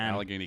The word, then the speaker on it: Allegheny: you've done to it, So you pronounced that wrong. It's Allegheny County. County and at You're from Pittsburgh. downtown. It's Allegheny County.